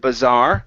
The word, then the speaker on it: bazaar: one is the word Bazaar the stress is on the end okay uh go to